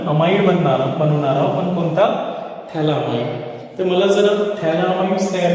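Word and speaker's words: phthalimide: तर यांच्यामध्ये काय सायलेंट आहे, हे PH सायलेंट आहे ना, थॅलामाइड म्हणतो आपण, पॅथॅलामाइड नाही म्हणायचं.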